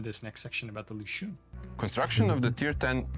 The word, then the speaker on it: Lüshun: And now he said Lüshun, like a little accent on the first U.